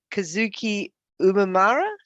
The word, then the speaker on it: Kazuki Umemura: returning the favor uh we have for you kazuki umamira did i pronounce it correctly you're saying right yep fantastic